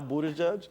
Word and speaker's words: Buttigieg: I can say it now, Buttigieg.